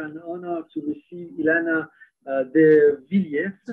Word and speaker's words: Devillers: Today I have the great pleasure and honor to receive Ilana de Villiers, right? Did I pronounce well your name? Exactly, de Villiers in French, de Villiers, de Villiers.